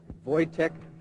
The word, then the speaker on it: Wojtek: Jay Sebring, Abigail Folger, Wojtek Frykowski, and another man who is unknown. The identification was made by a friend, and it's tentative at this time. Phonetically, we're given V-O-Y, T as in Tom, E-C-K, and the last name Frykowski, F-R-Y-K-O-W-S-K-I.